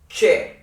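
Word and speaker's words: छह: Che. Like CHE. I don't know how, I can't find an example. Che. Like check. Che.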